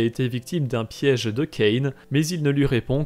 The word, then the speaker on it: Kane: série est en anglais il faut considérer la prononciation anglaise Kane selon ses textes Kane